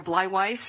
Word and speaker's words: Bleiweiss: As she mentioned, my name is Bleiweiss, rhymes with fried rice, just so you'll know.